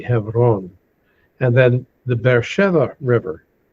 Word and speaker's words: Hebron: Now, you have another city called Hebron further to the north, or Hebron, or Hebron, as it's sometimes pronounced. Correct pronunciation for that would be Hebron.